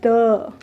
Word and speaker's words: deux: फिर अपना आता है टू को फ्रेंच में कहते हैं द, DEUX is called as द।